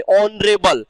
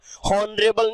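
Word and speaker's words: honourable: Okay, HOUR, आवर पढ़ते हैं, H silent होता है, ओनिस्ट होता है वैसे, HONEST वाले, ऑनरेबल, हॉनरेबल नहीं होता है।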